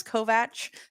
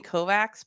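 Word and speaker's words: Kovács: It is Kovatch, but we're so used to saying Kovac because you know, speak for yourself.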